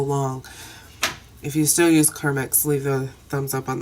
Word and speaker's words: Carmex: uses Comics car mix remember when we used to all call it car max as if it's spelled car ma X its e^x Carmex I bought this like